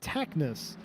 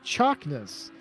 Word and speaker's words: Chaknis: I would typically pronounce this name Taknis, but I'm told that the TSA is like the first syllable of the word chair or charm, meaning it has a ch sound. So it's Chaknis is how you pronounce that.